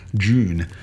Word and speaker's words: Dune: I always joke that the Australian pronunciation is D-J-O-O-N, June.